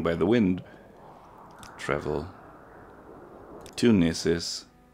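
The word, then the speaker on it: Gnisis: Travel to Gnesis. Now that we know that the G is silent.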